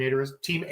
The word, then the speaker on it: Eder: Team Ader is awesome. And it's Ader, everybody. It's not Eder, it's Ader. So I just want everybody to know that. Pronounce it with an A.